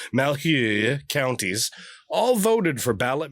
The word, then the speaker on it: Malheur: Voters in Sherman, Lake, Grant, Baker, and Malheur, I think that's how you say that, Malheur, Malheur counties, all voted for ballot measures that would lead them to becoming Idahoians.